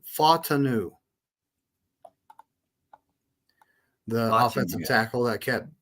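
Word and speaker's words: Fautanu: He actually pronounced Troy's last name in the chat. It's Fatanu, the offensive tackle that kept dropping to us.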